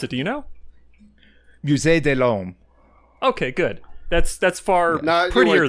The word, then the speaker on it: Musée de l'Homme: She joins the Musée de l'Homme, which I did not pronounce right, but is like Museedelhomme.